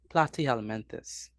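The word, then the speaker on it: Platyhelminthes: word say it again how you say you pronounce flat worms word oh plat elementus good night Mr P good night good night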